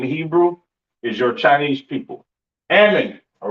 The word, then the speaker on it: Ammon: Ammon, all right, Ammon, which is Imawan in the Hebrew.